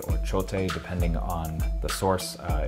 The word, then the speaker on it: Chote: it is s-h-o-a-t-e uh both of which i believe have the long e at the end so yeah um that